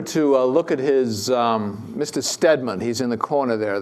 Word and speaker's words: Stedman: There's a General Stedman, a brigadier general, S with two E's in his name, but pronounced the same way, who was also at